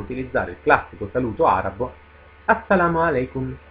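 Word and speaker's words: السلام علیکم: Molto semplice da pronunciare anche questo perché pur essendo un prestito arabo, ha perso quella sonorità tipica dell'arabo che è tanto difficile da pronunciare per coloro che non siano di madrelingua araba. E sto parlando proprio della consonante Ain, Ain.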